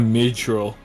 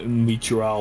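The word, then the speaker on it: Myrddraal: They call that thing a midral or mitral or A whatever. murdrel, I think, is how you say it.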